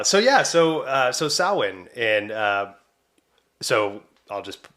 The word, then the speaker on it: Samhain: yeah so uh so sowin and uh so I'll just say this I had to spell out Salin and then realize that I didn't spell it anywhere right so sowin is spelled s-a-m-h-a-n right so in all